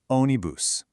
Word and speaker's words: ônibus: Now, for the pronunciation, see that little accent on the O? That tells you where the emphasis goes. So, you say it like this. Onibus.